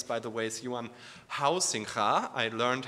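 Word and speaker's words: Huizinga: One of the rediscovered father figures of recent game studies, by the way, is Johan Hausingha. I learned how to pronounce it correctly.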